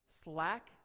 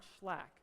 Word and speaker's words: slack: Is that how you say it? Slack? Not schlack. All right, so there's no CH, it's just slack. All right, I was putting a little bit too much German emphasis on that.